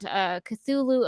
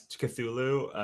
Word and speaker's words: Cthulhu: I generally say it as Cthulhu. That was the one that sounds rightest to me.